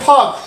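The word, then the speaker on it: folk: আমরা এখানে ফক, এই FOL কে ফক, এ ফল্ক না বলে ফক কেন বললাম, কে বলতে পারবেন?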